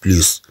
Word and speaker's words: plus: طبعا هاد بلي كما ذكرنا بأنها بلوس، ولكن عندما تأتي في لانيغاسيون ننطقها بلي، ننطقها بلي.